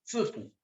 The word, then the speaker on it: sifu: Se escriben si, fu, sifu. Ese sí es lo mismo que el tse, maestro. Si ustedes escuchan a un chino decir sifu, van a escuchar más bien zifu.